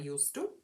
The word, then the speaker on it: used to: So how do we pronounce used to? With a soft S.